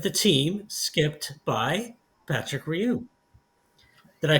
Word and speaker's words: Rioux: And right now, we are here with the team skipped by Patrick Rioux. Did I pronounce that right, Patrick?